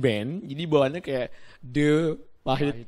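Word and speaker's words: De Pahit: Jadi orang di luar pasti akan bacanya The Pahit. Enggak, bukan The Pahit ya. Kan yang paling bener The Pahit dong. Karena di sini kan mengambil nama Bali ya. D pahit, nggak D pahit seharusnya ya.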